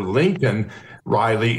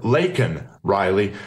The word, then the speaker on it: Laken Riley: an illegal, but then mispronounced her name and called her Lincoln Riley instead of Laken Riley.